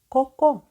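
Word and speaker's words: Coco: з літери с літера літера с саме Так вона називається але читати Ми її сьогодні будемо як звук к ко ко ви всі прекрасно знаєте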